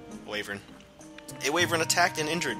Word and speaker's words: wyvern: to be hey uh wyvern waver however you like to pronounce it I call it uh waver a waver attacked and